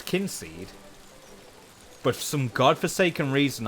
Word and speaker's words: Kynseed: the game um because obviously what it means is like kin like family and it's the family it's kin seed but they've they've spelled it with a Y just click gives it